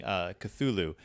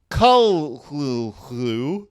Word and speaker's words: Cthulhu: it's something like Call Cthulhu, which the first syllable pronounced gutturally and very thickly.